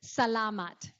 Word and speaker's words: salamat: So depending on the length, it's mostly the second or third syllable. So it's not, so it's salamat.